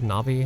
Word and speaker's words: Navi: within the dueling Peaks area called the three Nabi Lakes now sure the pronunciation is quite different but this is actually